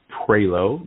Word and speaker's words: Prioleau: I'm on Facebook as the Tax Man Prelo. My last name is spelled Prioleau.